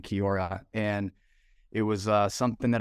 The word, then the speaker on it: Kiaura: Parker is the founder and CEO of Kiora. I want to make sure I'm pronouncing that right. Yep. Kiora Eyewear.